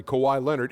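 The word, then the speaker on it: Kawhi Leonard: so so now saying a guy's name correctly kawhai lonard is disrespecting him you the whole name like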